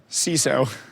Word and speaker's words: CISO: Security Officer correct how do you pronounce that ciso ciso okay all right it should be Sizzle because it sis uh ciso okay so I learned something today it's a sisso there you go there we go change your